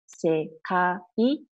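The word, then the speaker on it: 世界: Okay, we pronounce it as sekai, so it's three sounds.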